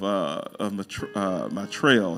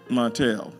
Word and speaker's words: Martell: recover from their shocker of Martrell. I think it's how you say it. Martell. Yeah, Martell. Just from, unexpected.